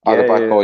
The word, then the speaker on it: Odubeko: And Odubeko, is that the correct pronunciation? Odubeko, is it? Odubeko, yeah.